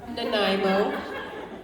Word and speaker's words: Nanaimo: How do you pronounce that place? Nanaimo.